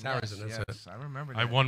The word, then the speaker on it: Sarrazin: Yeah, with Michael Jared, I can't Michael pronounce his name. Sarrazin. Sarrazin, yes, that's it.